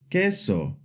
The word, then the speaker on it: queso: And the U is always silent. Like in the words queso kinto to when a